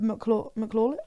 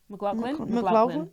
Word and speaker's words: McLaughlin: Yeah, and that's so like someone commented on one of our videos saying that Caleb McLaughlin, how do you say it? McLaughlin.